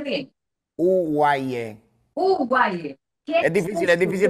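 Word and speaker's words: UWAIE: Hablemos entonces ahora de Guaye. ¿Qué es Guaye? ¿Lo pronuncié bien? Uguaye.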